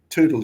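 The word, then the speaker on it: Toutle: the trees sitting in tole creek or Tuttle Creek depending on how you want to pronounce it weren't there one day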